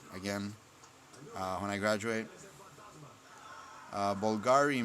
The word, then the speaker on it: Bvlgari: when I graduate uh Bulgari Man in Black that's how it's pronounced I think and again it smells